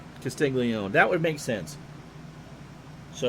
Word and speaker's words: Castiglione: So 1 out double, and that'll bring up Castiglione. Pete is 0 for 1. Matt, if you're still here, I'm assuming that it's pronounced like Joe's last name and not Castelloni.